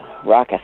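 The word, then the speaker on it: ROCIS: that is a March pronouncing that right raucous ROC is yes raucous we're not Rufus raucous so raucous is an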